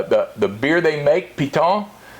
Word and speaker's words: Piton: the beer they make piton p-i-t-o-n but the locals they're not a French French pronunciation yeah you dropped the end you do drop it hey it's a good